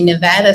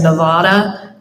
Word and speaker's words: Nevada: West Virginia girl and I always said Nevada when you live there it's Nevada so I'm happy to represent the small But Mighty state of Nevada and I'm honored to